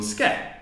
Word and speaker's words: skeleton: It could be A, it could be O, it could be O, and very often it's just because here we put the emphasis on skeleton.